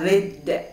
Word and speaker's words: writhed: The cobra writhed and lashed about in frightening manner. Writhed. W-Y-K-D. W is silent.